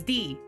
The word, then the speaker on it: Di: the boo it's d everyone thinks it's everyone okay so dice queen d it's like i know it's like a d and an i but it's pronounced d i know it doesn't